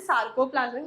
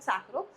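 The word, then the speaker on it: sarcoplasmic: सो you know, I think I मिसप्रोनाउंस्ड पहले. सो जो सार्कोप्लाज्मिक reticulum है, that is सार्कोप्लाज्मिक, नॉट सैक्रो.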